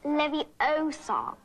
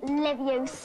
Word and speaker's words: Leviosa: some of aiiah besides you're saying it wrong if levy Osam not Livius are you doing and